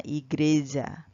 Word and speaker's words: igreja: dari sebuah kata dalam bahasa Portugis yaitu igreja atau bacanya igreja kata''yg Reza dalam bahasa